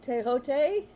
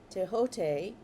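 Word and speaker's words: Thoth: Teote. Um, Teot. And I was pronouncing it th because it's t h o t h. Teote.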